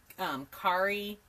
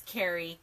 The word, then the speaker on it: Kari: I've had it spilled some people say khari but it's Carrie ka RI no matter Judy I